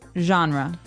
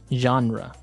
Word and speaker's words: genre: We say genre. Genre word genre. This kind of sounds French. Is it French? I think it comes from French. Uh, it's a ge word. So, genre. It's a soft soft sound.